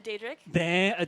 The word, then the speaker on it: Daedric: A Daedric?